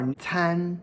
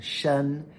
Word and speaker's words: 参: This character can also be pronounced first tone shen, as in 人参.